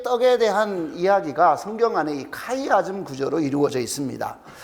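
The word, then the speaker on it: χ: 어려워하지 마시고 x자 아시죠 x자 이게 헬라어로 카이에요 카이 그래서 옛날에 우리 성탄절 때 왜 x 막스 이런 거 보셨어요 크리스마스를 그죠 이렇게 x 그래서 x 마스라고 읽으면 안 돼요 그게 아니고 이제 그래서이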